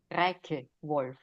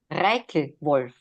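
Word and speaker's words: Reichwolf: Reich Wolf. Pardon? Reich Wolf. Reichel. I'm an American. I apologize. The K is not is a strong key. Reich.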